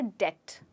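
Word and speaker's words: debt: ये वर्ड है डेट। इस वर्ड में बी साइलेंट है।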